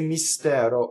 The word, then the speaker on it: mistero: When you sing, you have to make sure that the first syllable is all E and the S is completely on the next note.